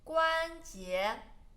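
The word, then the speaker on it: 关节: 皮肤 joint 关节关节关节关 flat tone J second tone 关节 bones 骨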